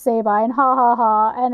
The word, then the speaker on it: Sabine: That they make it all sound like these guys don't know that it's supposed to be pronounced Sabine, ha ha ha, and it's like a funny